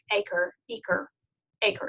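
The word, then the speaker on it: Eaker: This is based on the work of DeFore and Aker is how he pronounces it.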